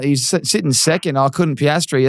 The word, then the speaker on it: Piastri: I couldn't Piastri. That's how you say his name.